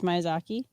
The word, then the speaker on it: Miyazaki: Zatanna typed it out phonetically for me. It's Ghibli. The Ghibli studio. Prince, it's Miyazaki. Says Mike Stewart. It's Miyazaki.